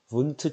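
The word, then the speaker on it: Wundt: 이런 걸 분트 착시라고 합니다. 분트. 이게 독일어인가 봐요. 이게 W가 독일어로 V 우리 영어에서 V 그죠? V 발음이 좀 나거든요. V 발음. 그래서 독일어인가? 분트래요, 분트.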